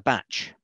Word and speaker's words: bach: a bachelor as a batch. They pronounce it with a T, but it's kind of, it's a shortening of bachelor.